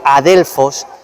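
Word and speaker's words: ἀδελφός: la concordancia strong griega que se pronuncia adelfos y significa hermano y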